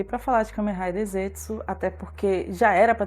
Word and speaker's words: Zeztz: Riders, que é o Kamen Rider Zetsu. Ele se escreve assim, Z-E-Z-T-Z.